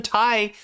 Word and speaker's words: Thai: It's very important for whatever reason that H appear before the that H which isn't pronounced in Thai appear before the consonant which is pronounced.